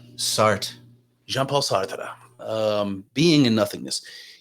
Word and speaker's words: Sartre: I believe French pronounce it Sartre.